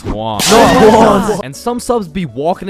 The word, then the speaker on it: Juan: That's just how it's pronounced. Juwan? Is there Juwan in the room? It's Juan. No, Juan.